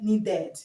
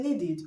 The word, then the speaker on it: needed: You don't say needed. You say needed. Okay. So the id here is pronounced id. The sound you have here is a sound id.